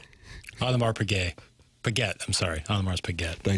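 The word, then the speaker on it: Audemars Piguet: Uh Warswood's wacko probably uh camping out for an Ottomar's Paguay watch. Otmar Payette, I'm sorry. Otmar's Paguette. Thank you for the pronunciation correction.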